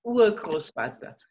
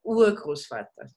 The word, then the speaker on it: Urgroßvater: Der Urgroßvater. En las palabras largas, el acento siempre es en la primera sílaba. Der Urgroßvater.